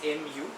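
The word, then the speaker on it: μ: that i wrote here it's spelt like this mu the pronunciation is mu mu represents the refractive index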